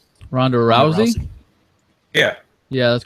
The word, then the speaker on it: Rousey: Ronda rusey what Ronda Rousey ruy how you pronounce her name Ronda Rousey yeah yeah that's correct oh my God